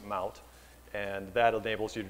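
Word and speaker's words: Mahout: Looks like Mayhout. They pronounce it Mout.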